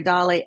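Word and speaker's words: DALL-E: smarter than I am it's the combination of saladar Dolly and Wall-E is actually how they came up with it is the two of those together so that's the and it's spelled the d l l e so it's Salvador Dolly and Wally is the two combined and Eve no I'm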